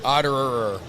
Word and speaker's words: Ota: But also, funny story, my friend Morgan OTA, which if you were to look at that, it'd be oh, Otter. Yes, Otter.